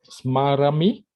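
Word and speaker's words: स्मरामि: Nacha smarami. Nacha wadami. Okay, that's correct. However, remember for the ami ending, and be careful to make it the long ah.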